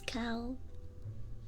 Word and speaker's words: calf: Wait, but someone earlier was like the L is silent.